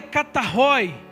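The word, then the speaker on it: καθαροί: lemos em Mateus 58 se pronuncia Catari que significa literalmente Sem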